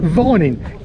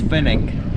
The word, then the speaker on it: Finning: and some people pronounce it Vorning. Can you clear that up for us? It's Finning.